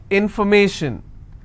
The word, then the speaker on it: information: If I have more number of syllables, information, first I will break it, information. So where do I stress? I will stress on may.